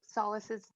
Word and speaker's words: Sollys: How do we spell Sollys's name? Is it S-O-L-A-C-E or S-O-L-I-S? S-O-L-L-Y-S, but it's pronounced like Sollys, which, you know, you can understand why, right?